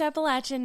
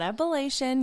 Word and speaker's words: Appalachian: heart of the appalachian mountains yes it is pronounced appalachian not appellation you were taught wrong it's okay you know